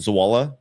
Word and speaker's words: Zawala: Is it Zawala? Rhymes with koala.